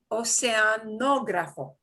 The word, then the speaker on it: oceanógrafo: Oceanógrafo, oceanógrafo, con acento en la segunda O. Oceanógrafo.